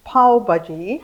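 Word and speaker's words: pav bhaji: share with us um it's called P baji it's po baji p okay yeah but I think it's spelled with a V that's right so it kind of puts me off but anyway all right so it's paji and uh I looked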